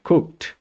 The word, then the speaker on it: cooked: verbos comunes verbos regulares la pronunciación de esta palabra sería cooked como puedes ver no pronuncias la e no dices cooked porque es silenciosa es una letra silenciosa entonces en la mayoría